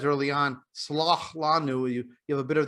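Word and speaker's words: סְלַח לָנוּ: chet, as in like slach lanu, is pronounced just as a ch. But in Arabic style, or Arabic accented Mizrahi style Hebrew, it's a ch, it's sort of a swallowed ch.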